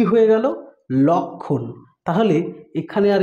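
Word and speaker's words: লক্ষ্মণ: কিন্তু কি হয়ে গেল লক্ষণ তাহলে এখানে আর এই ম ফলার উচ্চারণটা কিন্তু আর হলো না এই ম ফলার এই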